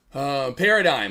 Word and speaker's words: paradigm: Paradigm. Okay, cool. Gosh, damn, that one. That's a hard one there. I'm like, what's the silent G?